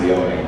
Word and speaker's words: Leone: But nobody calls me Leone. They all just call me Leone, which I don't mind, but it's pronounced Leone.